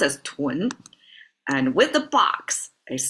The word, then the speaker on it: 囤: This character inside it's pronounced as tw and with the box is still pronounced as tw.